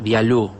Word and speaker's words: Bialous: hablar de rizar viaú lo voy a decir así como si fuera francés vialú se escribe vía lowes